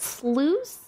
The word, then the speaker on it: sluice: poultry hello wow nice it's pronounced sluice like juice but with Slough instead